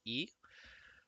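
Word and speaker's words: 一: horizontal line that is the Chinese character for one otherwise pronounced as e and he will be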